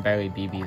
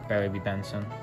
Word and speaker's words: Barry B. Benson: We can call him Barry BB, though. Barry B. Benson. Barry BB, is it? That's your friend's name? No, it's Barry B. Benson, but yeah, I guess you can pronounce it that way.